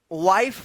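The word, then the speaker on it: wife: तो इसका रूल है कि जब किसी वर्ड के लास्ट में इ रहता है और इ से पहले वाला वोवेल आई रहे तो इस आई का आई उच्चारण होता है। क्या होता है? आई उच्चारण होता है। और इस इ का कोई उच्चारण नहीं होता है। इसीलिए यहां पे वाइफ पढ़ा गया है।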